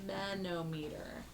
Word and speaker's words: sphygmomanometer: Sphygmomanometer.